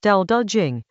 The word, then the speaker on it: Dao De Jing: Chapter Nineteen of the Dao De Jing — pronounced "Dow Duh Jing" — sets out to dismantle three things every civilization considers foundational: wisdom, benevolence, and skill.